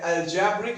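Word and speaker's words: algebraic: ठीक है, तो अब इसे ही क्या हम बोलते हैं, अलजेब्रिक एक्सप्रेशन। क्या बोलते हैं बेटा, अलजेब्रिक एक्सप्रेशन। ये ध्यान देना, अलजेब्रिक की स्पेलिंग लिखा मैंने अलजेब्राइक है, लेकिन पढ़ मैं अलजेब्रिक रहा हूं।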